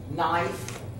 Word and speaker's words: knife: What happens when I put the N next to the K? It's silent. Becomes silent. Knife, night, no.